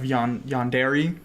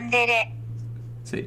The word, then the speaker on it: yandere: Okay, so my first ever interaction with, or impression of yandere, I'm going to say that, because I'm going to trigger so many people.